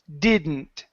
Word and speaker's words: didn't: uh this word here didn't okay so when I pronounce this word the second D disappears okay uh we do